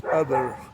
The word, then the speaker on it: Uber: Enfin, ça se prononce pas Uber, ça se prononce Uber.